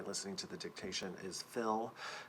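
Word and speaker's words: Phil: to the dictation is fill. It's spelled PH, but it has that initial F sound, so you spell that with an F.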